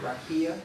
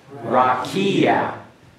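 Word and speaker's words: רָקִיעַ: yes the word uh ra rakia raia everyone pronounced that raia remember the path act F at the end there okay go ahead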